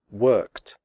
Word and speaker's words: worked: P F and s the final ed is pronounced like T as in the word hot the e remains silent here are some examples worked picked fixed missed stopped